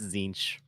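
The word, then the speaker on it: Tzeentch: anyone with Warhammer knowledge I think it's zinch zinch yeah they're chanting zinch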